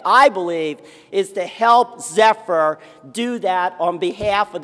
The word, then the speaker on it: Zephyr: It rhymes with all kinds of small cows.